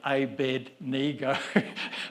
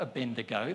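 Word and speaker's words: Abednego: I'll be in trouble if I don't say A-bed-ni-go. So I've even got a my daughter saying it right. Listen, it's not a Bendigo.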